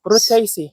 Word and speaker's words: Rutaceae: Rutaceae.